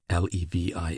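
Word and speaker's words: Lévis: There were in Madame Di's salon some very noble ladies named Ma Noea Levi L E V I S which was pronounced Levi Kambis C A M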